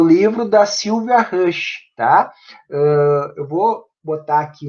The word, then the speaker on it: Roesch: É a Sylvia Maria Azevedo Rush. Se escreve Roesch, né?